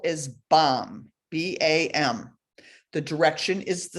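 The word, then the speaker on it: bam: how we experience her color wise the seed syllable is bomb b-a-m the direction is the center so you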